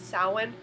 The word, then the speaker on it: Samhain: of this channel is Samhain. And I just chose that because even though you don't pronounce the M, at least not the way you do in English, then it's still there.